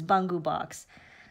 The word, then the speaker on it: Bungu Box: sweet potato purple sorry the proper pronunciation is bungu box so I will make